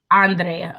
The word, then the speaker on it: Andrea: Andrea.